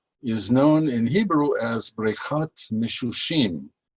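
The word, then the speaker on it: בריכת המשושים: And this pool, which is very popular, is known in Hebrew as Brechat Misshushim. This is how you pronounce it, Brechat Misshushim.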